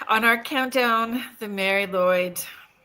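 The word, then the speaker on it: Lwyd: I actually had Google Translate because I believe it's Welsh and it's spelled M A R I L W Y D. And so it says Welsh in quotations grey, but it's actually Mary M a R Y Lloyd.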